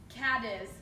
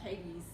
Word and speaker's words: Cadiz: we're in Kentucky um Cadiz oh that's embarrassing caiman actually it sounds just like the name like Katie's Katie's Kentucky but I always said it the exact same way you did and at all someone